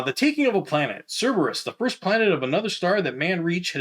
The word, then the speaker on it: Cerberus: you an unboxing of a cherrymap version of cerberus that's how you say it cerberus now the first thing you're gonna notice about